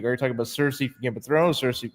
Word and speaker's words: Cersei: So we go into Pokastan to protect Princess Alana from Cersei. I really, is it just me or is it weird to you as well that we're pronouncing it Cersei instead of Cersei?